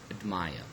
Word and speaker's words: admire: Here in this case we have stressed the first syllable in the word chapter and the second syllable in the word admire, okay.